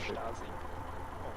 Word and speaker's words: Stasi: Actually pronounced Stasi.